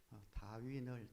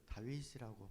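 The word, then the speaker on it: Darwin: 번 언급했는데 한 목사님이 저에게 카톡을 보내셔서 목사님 다윈을 다윗이라고 발음하셨다고 라고 알려 주셔서요.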